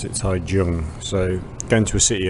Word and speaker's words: Taichung: So, I'm taking the train now to Tai uh how do I Tai Chung, but you pronounce it Tai Jung.